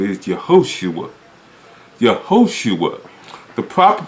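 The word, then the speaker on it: יהושע: The proper pronunciation of his name is Yehoshua. Yehoshua. The proper pronunciation of the name Joshua that was given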